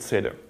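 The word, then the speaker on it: SADR: Oh yeah, shader means source address dependent routing. We pronounce it shader.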